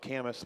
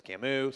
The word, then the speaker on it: Camus: and look him up it's spelled Camas but it's Camus so you can look